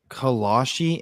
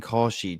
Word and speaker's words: Kalshi: Kalashi and Kalshi, Trent. You're adding like extra letters.